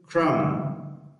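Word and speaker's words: crumb: ګورئ هر کله که چېرته بي یعنې مخکې له بي څخه ام راسي یا له ام وروسته بي راسي نو بي څه شی دی؟ سایلنټ نه تلفظ کېږي.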